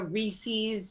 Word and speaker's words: Reese's: i say this uh it's reese's pieces there was a person named rhys and the pieces are theirs it rhymes recently it's my number